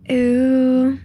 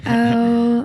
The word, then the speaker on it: Ö: You could say ooh or oh or open to interpretation. Because it's like German, Turkish, and Finnish, I believe. The three. I'm leaning towards the kind of German Ö.